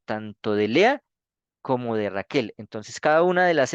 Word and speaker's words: Raquel: Entonces, ¿por qué se dice Raquel y no Rachel? Porque resulta que muchas de